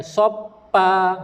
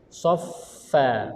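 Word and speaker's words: صفا: Bukan soppa. Salah. Sof. Kalau ejaan Melayu macam mana? S-O-F. S-O-F-F. S-O-F-F. Dot. Sof. Alhams. Sof. Sofi. Soffa.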